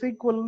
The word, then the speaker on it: SQL: Okay, அதை நம்ம SQL சொல்லுவோம், ஃபாரின்ல சீக்வல்னு சொல்லுவாங்க, சீக்வல்னு ப்ரொனவுன்ஸ் பண்ணுவாங்க.